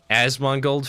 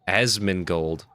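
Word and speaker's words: Asmongold: I'm not a huge Asong Gold fan. I say his name wrong every time, don't I? Asmin Gold. Not a huge Asmin Gold guy.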